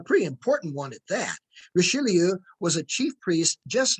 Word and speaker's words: Richelieu: Cardinal Rich, replied Josiah. You mean Cardinal Richelieu, chimed in Matthew, careful to pronounce and emphasize the last part of the cardinal's name.